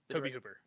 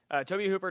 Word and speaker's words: Tobe Hooper: like an amateur but I always pronounce his name wrong Toby Cooper it is Toby yeah okay tobe Hooper directed poltergeist he did